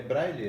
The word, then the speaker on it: braille: É braille? É assim mesmo? Estou pronunciando certo?